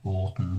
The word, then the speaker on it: Oughton: It's either or Orton, which is my surname. I don't use it because no one can ever spell it correctly, but it's Oughton.